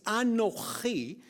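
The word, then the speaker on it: אָנֹכִי: It's not Ani, the word that we normally use. It's Anochi.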